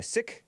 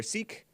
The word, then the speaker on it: Sikh: She had both a Sikh or Sikh, S-I-K-H, pronounced either way, I guess, I don't know, wedding and a Christian wedding.